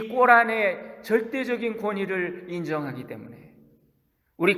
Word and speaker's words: 꼬란: 여러분, 이슬람 경전인 꼬란이라고 그러죠. 코란이라고 그러는데 꼬란이라고 하는 발음으로 요즘 많이 부릅니다. 이 이슬람 경전에 보면 마리아가 성령으로 잉태된 이야기가 나와요. 그런데 이 무슬림들은 이 꼬란의 절대적인 권위를 인정하기 때문에